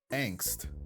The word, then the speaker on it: Angst: carry a lot of angst. I suppose that it's so funny to me that that is an actual English word, because that's a German word which is pronounced Angst, which means anxiety in